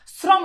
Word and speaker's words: শ্রম: এইজন্য দেখো রিকার আছে এজন্য এটা দন্তস হইছে শ্রম এই যে দেখো এই যে দেখো শ্রম এই